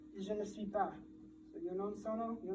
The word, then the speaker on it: je ne suis pas: In French, you have this, which is pronounced je ne suis pas.